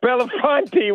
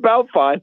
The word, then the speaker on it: Bellefonte: Belafonte, we can't hear you. And the town's called Belfont. Well, I mean, I know the listeners in State College will get that, but the city is Belfont, and it's spelled B, if I remember correctly, Bellefonte.